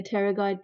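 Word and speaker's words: pterygoid: at the posterior view you can see the teroid process make sure the spelling is right B is silent teroid process you need to know the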